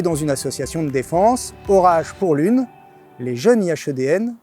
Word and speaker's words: ORAJe: Orage, ça fait penser au tonnerre, aux éléments météorologiques, aux forces aérodynamiques, mais ça s'écrit avec un J, donc il y a une explication forcément, c'est quoi?